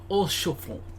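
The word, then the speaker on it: Haurchefant: So we don't pronounce the H. Harshaphont.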